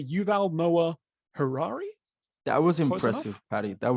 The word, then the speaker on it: Yuval Noah Harari: I was going to ask you how to pronounce the name I was going to say Yuval Noah Harari that was impressive Paddy that was very impressive